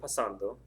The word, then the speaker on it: pasando: Before we do that, think about how you say the word pasando. Pasando, pasando. The stress is over that second A.